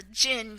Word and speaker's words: djinn: to be a jinn do not ask me how that's spelt that's how it's pronounced by everyone that's pronounced it to me as a jinn kind of like this